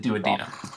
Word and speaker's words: duodenum: I don't know who's correcting you there, but the glossary says it's duodenum. So I think your pronunciation was correct. Maybe they're both acceptable. But your textbook's glossary pronounces it duodenum.